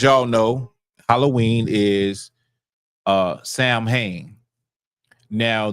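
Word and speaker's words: Samhain: So, Halloween, as y'all know, Halloween is uh Sam Hayne. Now, the way it would have been pronounced is sawing. Okay, sawing. But because I don't feel like doing all that, we're just going to say Sam Hayne.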